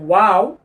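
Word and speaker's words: و: হলো শিক্ষার্থীগণ এই যে ওয়াও আপনার কোরআন মাজিদে মোট এক 11 টি চিহ্ন রয়েছে যেকোনো চিহ্নতে ওয়াও ঠোঁট গোল করে উচ্চারণ করতে হবে যখন ওয়াও আমরা শুধু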